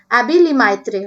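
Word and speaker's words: Abbé Lemaître: ये जो साइंटिस्ट है ये फ्रेंच साइंटिस्ट है, इसका इसलिए जो इंग्लिश प्रोनाउंसिएशन होगा वो एबी लेमाइत्रे होगा।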